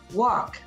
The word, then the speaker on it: walk: it another example is walk let's go for a walk w-a-l-k let's go for a walk the l is silent in the word comb